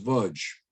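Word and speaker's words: Łódź: This was the gates of a ghetto, the Lodz ghetto, pronounced Vudge.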